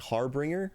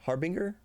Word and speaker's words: harbinger: don't think I ever was saying it right harbringer harbinger harbinger harbinger is I saved from deadly harbringer